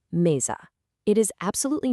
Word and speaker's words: mesa: If an S is sandwiched right between two vowels, it actually turns into a buzzy Z sound. Take the word for table, "mesa." It's pronounced "meza."